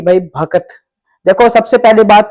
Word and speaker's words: भक्त: सबसे पहली बात तो भक्त जो वर्ड है वही रियल वर्ड है जिसकी प्रोनाउंसिएशन भय, कै और तय, भक्त होता है। क्या भक्त होता है प्रोनाउंसिएशन, रियल प्रोनाउंसिएशन भक्त ही है, जो कि हमारी हिंदी